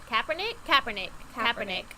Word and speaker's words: Kaepernick: How do you say his last name? Colin Kaepernick. Kaepernick? Kaepernick.